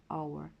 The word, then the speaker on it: hour: і звертаю вашу увагу our пишеться з літеру H але вона не вимовляється просто Every hour кожну годину і цю